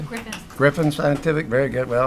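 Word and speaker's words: Gryphon: and uh Dr Cavita Berger scientist is it grion scientific did I pronounce that correctly Griffin Griffin scientific very good well I'm learning uh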